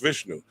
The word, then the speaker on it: Vishnu: and the eighth embodiment of the god Vishnu, pronounced Vishnu.